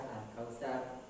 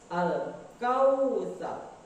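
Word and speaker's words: الْكَوْثَر: Berikutnya ada huruf waw sukun di dalam kata al-kautsar, sama hanya dengan huruf ya sukun oleh fathah, maka waw sukun oleh fathah pun sama hukumnya mad lim, maka harus lembek cara membacanya. Al-kautsar, kautsar, tidak boleh al-kautsar, al-kautsar.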